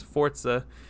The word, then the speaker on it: Forza: I think they're turning it around, and I think that Forza actually, I've been saying it wrong my whole life. It's Forza.